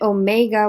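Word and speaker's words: ω: the greek alphabet and omega which is the long o sound they use w because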